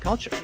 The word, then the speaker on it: culture: Club the kids with culture emphasis on the first syllable of that there is a cult in culture and that's a con